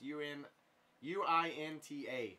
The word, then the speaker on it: Uinta: that's you so it's Uinta no god damn it that's how you if that's how you pronounce it it's you in uint8 it's their lime Pilsner